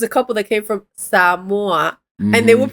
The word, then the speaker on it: Samoa: And the reason that I know that it's pronounced samua, right, is because we watch um 90day fiance and in 90day fiance there was a couple that came from Samoa and they would pronounce it that way.